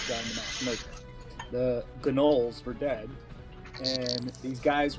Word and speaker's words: gnoll: I think it's just pronounced gnolls, by the way. It's gnolls.